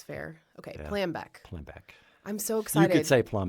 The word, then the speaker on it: Plambeck: Did I say it right? It's Plambeck. Plambeck. Damn it. Okay, hold on. Maury it's Plambeck, okay. like exactly how it's spelled. Right, but if you were German, you would say Plambeck. Okay. My grandparents said Plambeck, but okay, that's Plambeck German. It's a German name.